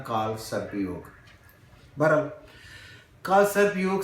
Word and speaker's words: काल सर्प योग: मैं आपको बताऊ कि काला सरपाई योगा नहीं होता ये लिखने में ऐसे है लेकिन आप जैसे जिंदगी जब इसको पढ़ेंगे तो आखिर में हिंदी में ए साइलेंट हो जाता है तो इसलिए बना काल सर्प योग बहरहाल काल सर्प योग